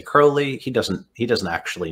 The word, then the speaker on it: Crowley: oh he doesn't say crowley he doesn't he doesn't actually know aleister crowley i say no i pronounce it like david bowie because i discovered him through david bowie yeah and i believe